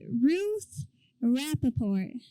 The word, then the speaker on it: Ruth Rappaport: Okay, I'm with Ruth Rappaport. Is that right? That's how you pronounce my name, yes.